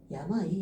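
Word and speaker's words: 病: 그래서 음독으로 읽어 줄 때는 뷰라고 읽어 주게 되고 얘가 단독으로 나왔다라고 되면은 야마이. 야마이. 야마이가 병이에요. 음. 그래서 야마이요 오아즈라우 하기 병을 앓다 병이에요. 야마이라고 읽어 주시면 되겠습니다.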